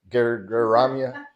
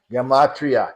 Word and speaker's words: gematria: So most people say that's, how do you say that? Geramia? Did you say that? Geramia. Gematria, yeah. And then I've seen many debates.